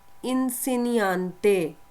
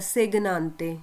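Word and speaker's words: insegnante: इंसेनियांते, ये जो है ना इन, जब ये इसको आपने ऐसे नहीं पढ़ना सेगनांते, ये जो जी है ना जब ये एन के साथ होगा तो इसको आपने कैसे पढ़ना है, इंसिनियांते।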